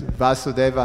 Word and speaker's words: Vasudeva: yes pronunciation yeah well our our our Sanskrit pronunciation is pathetic yes it's Vasudeva and varsity thank you so much Karen terashima